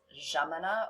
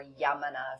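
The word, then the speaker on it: Yámana: It starts with a Y, but in Argentina, the Y in many cases is pronounced J. So it's Gemina or Yamana if you're going to be Googling.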